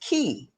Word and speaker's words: chi: you know because also chi ch i is pronounced key which is also spelled q i so all key me